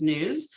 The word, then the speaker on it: NWSS: I am the program lead for the National Wastewater Surveillance System, NWSS, which we pronounce as NEWS.